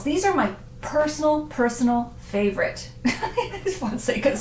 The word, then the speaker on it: Fonseca: of this port house, Fonseca. So it, makers of wines, rhymes. It rhymes with wines?